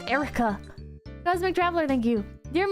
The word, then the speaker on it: Air Wrecker: Air Wrecker. Pronounced Erica.